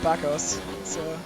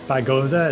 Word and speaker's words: Bago: I always call him Baggos. Yeah, Bagoza, it kind of looks like to me, but it is Bago.